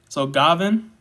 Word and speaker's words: Gavin: You said the A is an I sound, so Gavin. All right, did I say it right this time? Yeah. All right. 2 points for Gavin, please.